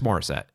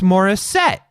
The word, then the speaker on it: Morissette: out loud Alanis Morissette there's always a an inflection that people put on her surname because I'm set yeah because I say it like Alanis Morissette but then you'll have people like Alanis Morissette like there's something about like the the second syllable in her last name that they have to emphasize and I just I